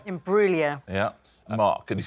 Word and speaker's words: Imbruglia: So you know what I thought was really impressive there is how he remembered that silent G.